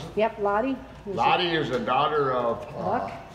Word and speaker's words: Lottie: They're an Alva dog called Lottie, is that how you pronounce it? Yep, Lottie.